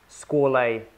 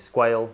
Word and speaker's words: Squale: nothing but safety glasses here we have the squalay uh over specs um the I mean being a French company by made by ble the pronunciation is scol but then in the UK people are pronouncing this squale so there are a couple of names going